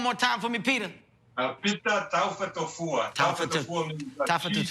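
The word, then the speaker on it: Pita Taufatofua: The proper pronunciation is Pita Taufa Tofua.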